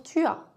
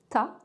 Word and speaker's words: t'as: Pour tu as, on dit souvent t'as.